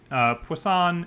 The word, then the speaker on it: poisson: interesting relationship there uh so poisson it's spelled like poison with two s's it you can think about this as meaning fish right poisson i believe is fish in french and one of the